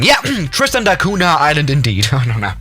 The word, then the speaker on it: Tristan da Cunha: this island especially tristan uh tris tristan da tristan da cunha how do you pronounce that tristan darcunia okay tristana you know i wasn't even that wrong yeah tristan da cunha island indeed oh no no no yeah this